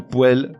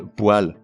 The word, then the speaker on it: poêle: Ou un ou une poêle, mais un ou une poêle. Une baignoire, mais une baignoire.